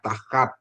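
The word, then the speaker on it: תחת: ya tahat ya tahat ya bacanya tahat Ya terus ada hekim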